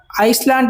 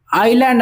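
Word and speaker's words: island: ಅಂದ್ರೆ ದ್ವೀಪ ಅಂತ ಅರ್ಥ ಇದನ್ನ ಐಸ್ಲ್ಯಾಂಡ್ ಅಂತ ಉಚ್ಚಾರ ಮಾಡೋದಿಲ್ಲ ಐಲ್ಯಾಂಡ್ ಅಂತ ಉಚ್ಚಾರ ಮಾಡ್ತೀವಿ ಡೆಸರ್ಟ್ ಮರುಭೂಮಿ ವ್ಯಾಲಿ ಕಣಿವೆ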